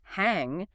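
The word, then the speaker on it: 行: In one context, looking exactly the same on the page, it sounds like sing and means to walk or action. In another context, it's pronounced hang and means a bank or affirm.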